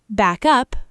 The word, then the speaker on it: backup: Back up, verb, stress on up, equals support, copy data, reverse. Backup, noun, stress on back, equals a copy, reinforcements.